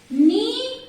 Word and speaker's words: knee: So first is knee, knife, not, no. What is common here? K. K is silent in all the words here.